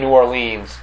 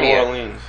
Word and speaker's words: New Orleans: it what do you how do you say some people say I say New Orleans New Orleans but New Orleans makes more sense cuz that's how it's spelled Orleans and some people say